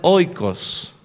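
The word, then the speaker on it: οἶκος: por dos palabras griegas la primer palabra es oicos se escribe sin h o I K o s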